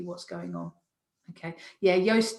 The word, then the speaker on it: Yoast: going on okay yeah yoast does rhyme with toast and i always say it's toast with a y um so yeah that's